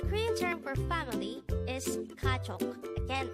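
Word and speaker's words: 가족: in Korean the Korean term for family is kachok again it's this is pronounced the two-syllable word the first syllable is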